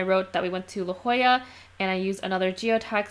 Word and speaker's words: La Jolla: because I kept saying La Jolla and I don't I knew in my head that's pronounced la jolla but it took me